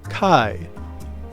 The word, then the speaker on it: Chi: No, that's pronounced Chi.